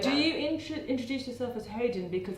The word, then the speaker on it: Hodan: Well, if you said Hodan to my mum, she's heard it because obviously that's how Western people pronounce it. But that doesn't resonate with her, and also it doesn't resonate. That's not my name.